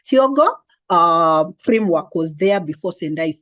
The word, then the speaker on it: Hyogo: came after the hogo I hope I'm pronouncing it correctly it's hyogo or chogo hyogo framework was there before